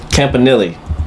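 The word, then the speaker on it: Campanile: Um, I think Campanili, that's how you pronounce his last name, Anthony Keanilli.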